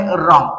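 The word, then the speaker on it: wrong: silent ठेवायचा आहे त्याच्यानंतर सेकंड एक्झाम्पल आहे रॉंग आणि रॉंग या शब्दाचे वाचन करत असताना यातील डब्ल हे लेटर सायलेंट ठेवायचा आहे त्याच्यानंतर आहे रिस्ट रिस्ट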